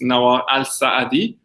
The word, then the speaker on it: Nawar Alsaadi: people listening to this your full name is Noah al-saadi did i pronounce it right oh yeah that's correct perfect